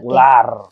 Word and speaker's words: Vlaar: U ditulisnya V gitu. Tapi dibacanya U. Oke, Ular ini sedikit cerita aja ya.